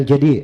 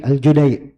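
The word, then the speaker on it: al-Judai: Abdullah bin Yusuf aljudai bukan aljadi aljudai I kalau tanya kenapa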